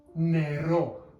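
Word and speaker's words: νερό: So that would be the word nero. Nero. We have our N sound over here, we have our E, then our R, and then our O.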